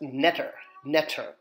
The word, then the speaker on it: ntr: And it's pronounced netter, N-T-R. Netter, which, again, Egyptian word for God.